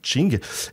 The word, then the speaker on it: Qing: l'empire des Qing, alors ça s'écrit avec un Q comme King, mais en fait c'est Qing, et la mise en